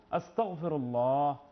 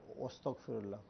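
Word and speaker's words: أستغفر الله: যখন আমি বলবো আস্তাগফিরুল্লাহ, হে আল্লাহ আমি ইস্তেগফার করছি, আমি ক্ষমা প্রার্থনা করছি, আমি মাফি চাচ্ছি। তো আশা করি বুঝতে পারি ইনশাআল্লাহ। অনেক সময় আমরা যে বাংলাদেশে অনেক উচ্চারণের কারণে ওয়াস্তাগফিরুল্লাহ, না না ওইটা ওই আয়াত থেকে বলে বলতেছে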